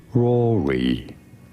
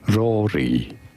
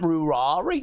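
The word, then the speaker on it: Ruairi: pronouncing it in English Rory Rory in Irish it is often said as Rory so it's Rory it's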